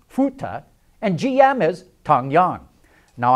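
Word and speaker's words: 福特: Buick becomes be Cadillac becomes kadaka Ford is pronounced futa and GM is tongyang now I'm sure all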